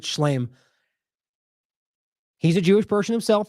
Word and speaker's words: Shlaim: This is Avi Shalom. I think I've heard it pronounced both. I think Shlaim.